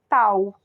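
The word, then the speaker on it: tau: vocês estão vendo aí é a letra grega T que se pronuncia tal tá mas eh nós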